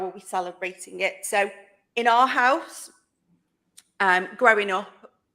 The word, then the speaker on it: Samhain: are as well because people in Scotland will pronounce it with a V sound so a stubborn sound